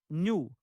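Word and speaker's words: ν: is frequency the frequency n pronounced new of a wave is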